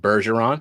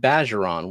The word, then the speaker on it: Bergeron: I've heard Bergeron, which is the right one. And then I've heard Bageron, which is what the fuck is that?